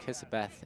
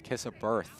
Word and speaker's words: Kissaberth: My bad, we actually been pronouncing his last name. It's not Kissaberth, it's Kissaberth. My bad.